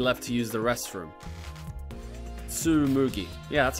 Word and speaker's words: Tsumugi: to move your left to use the restroom tsumugi yeah that's how you pronounce it the restroom huh interesting so we've